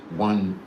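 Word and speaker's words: Juan: It's pronounced one cardus. It's actually like J-U-A-N, but it's pronounced one.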